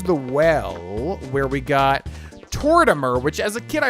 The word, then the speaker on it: Tortimer: fun of me because it's obviously supposed to be like Mortimer, but I never put that together. So yeah, I think it's pronounced Tortimer. Hey, what?